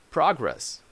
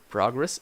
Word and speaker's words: progress: see these words have different stress than the nouns progress reject Pradas so you can say that ah she's making a lot of progress progress is a noun or we need to progress on our work so progress is a verb so here just as stress changes the meaning of the word okay